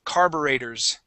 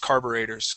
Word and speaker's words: carburetors: uh and Adrian um that word is pronounced carburetors carburetors carburetors carburetors carburators exactly yeah so uh it's very strange okay because we have that you are the E okay but yes it is pronounced carburetors okay now OT an eye